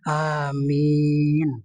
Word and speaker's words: amin: Makanya kalau nyebut amin, itu A-nya dipanjangin. Amin. Semoga Allah memperkenankan, mengabul. Kalau dibacanya amin, itu berarti jujur, aman.